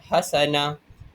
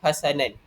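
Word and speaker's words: حسنة: Jadi cara bacanya hendaklah kita a membuang a tanwin dan membaca berbaris a fathah ataupun berbaris atas. Hasana kita tidak bacanya seperti hasanan. Jadi kita buang tanwin dan kita ikut berbaris fathah iaitu hasanah.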